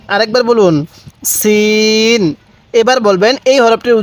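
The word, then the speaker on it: سين: হ্যাঁ এই হরফটির উচ্চারণ সিন কিভাবে পড়বো সিন আরেকবার বলুন সিন এবার বলবেন এই হরফটির উচ্চারণ কিভাবে পড়তে হবে হ্যাঁ সিন সিন তাহলে সিন তাহলে সিন হ্যাঁ সিনের উচ্চারণটা অনেকটাই চিকন আকারের হবে দেখুন সিন আমার সাথে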